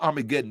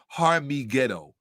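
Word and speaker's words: Har Megiddo: And it's not Armageddon. The correct pronunciation is Harmigeddo.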